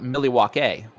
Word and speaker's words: Milwaukee: did know is that it used to be pronounced millie walk a which is algonquin for the good land okay so um i